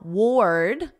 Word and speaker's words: ward: Now, ward, this is like the past simple of the verb wear. Yesterday I wore a sweater, and then you just put a very soft D, ward, ord, ward.